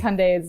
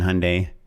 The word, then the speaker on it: Hyundai: done i've pitched on hyundai which is why i know it it rhymes with sunday and it's not hyundai drives me crazy hyundai